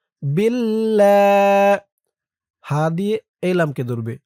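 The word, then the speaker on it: بالله: আস্তাগফিরুল rule ল উচ্চারণ হয়েছে আর এখানে ইল্লা বিল্লাহ বিল লা উচ্চারণ হয়েছে তাহলে এটা ল উচ্চারণ হলো আর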